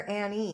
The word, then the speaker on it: Annie: And I forgot to ask you before we started, is it Ann or Annie? Um, both work. I go by both.